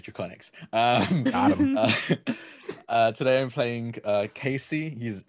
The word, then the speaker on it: Draconiques: For any French people in chat, yes, I know it's pronounced Draconique, but I'm not French, so it's Draconics.